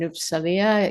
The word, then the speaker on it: Uppsala: Children's Health and you'll have to correct my pronunciation, Uppsala University in Sweden.